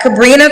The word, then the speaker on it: Sabrina: So is it Sabrina? Am I saying it right? Yes, that's right. Okay, we got Sabrina, 33, Leo, lives in Jersey, general manager, mom to a 14-year-old, never married.